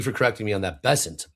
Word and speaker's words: Bessent: Bessent. Bessant.